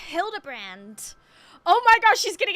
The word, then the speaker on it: Hildibrand: It's pronounced Hildabbrand.